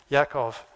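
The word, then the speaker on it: יעקב: Isaac's son Jacob or if you want to use the Hebrew pronunciation Yakov um or isra yes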